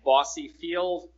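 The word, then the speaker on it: Bosse Field: It's going to be happening at Bossy Field. That's spelled B-O-S-S-E.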